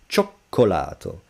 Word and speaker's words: cioccolato: No, double C, if it's preceded, followed by A O U, it's cacocu, but stronger. So, cioccolato.